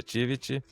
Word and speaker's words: Tivit: Daniel, eh, explica pra gente o que que é tivite. Eu tô falando certo o pronunciando certo o nome, cara. Éit mesmo. Éit. Tivity. Quase, quase Tivity. É Tivity.